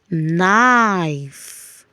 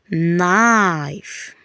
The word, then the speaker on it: knife: We call it a silent K. The K is silent. So we have night, knee, no, knock, knife, night. Can we repeat that? Night, knee, no, knock, knife, night.